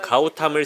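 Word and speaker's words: गौतम: 부처님과 같은 성씨인 고타마, 현지 발음으로 가우탐을 쓰는 불자들이 불단에 공양물을 올리기 위해 찾아온 겁니다.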